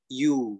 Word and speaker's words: ewe: Nah, kan ternyata kalau teman-teman cek di Google Translate itu, terus teman-teman dengar audionya tuh, dia pelafalannya adalah you.